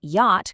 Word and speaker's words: yacht: The spelling never caught up to how we actually say it, so the ch and the t are completely silent, and the whole word just rhymes with hot.